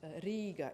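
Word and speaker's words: Rīga: the eye which indicates a long vowel you pronounce it Riga in Latvia as very important don't mess with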